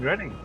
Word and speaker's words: Reading: To be honest, Oh, you mean Reading? there's a lot of town names in England that are just nonsense pronunciation compared to how Oh, yeah, they're I actually only spelled.